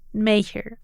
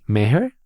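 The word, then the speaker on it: Maher: ¿Meher? ¿Meher? ¡Ajá! Y Penélope Salmanos. ninguno de los dos estaba cerca. Aquí está Catherine misma diciendo su nombre. My name's Catherine Marr, and I am the CEO of the Wikimedia Foundation.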